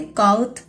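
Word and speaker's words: kağıt: alphabets में बताया था जहां जी के ऊपर ये यू सी शेप होगी इसको हम लोग साइलेंट कर देते हैं हम इसकी साउंड नहीं निकालते इसको बोलेंगे काउथ पारा बैंक ब्लैंक नोट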